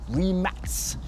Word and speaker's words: Rimac: puma teamed up with re mac or remax as it's actually called if you pronounce it in croatian now that is a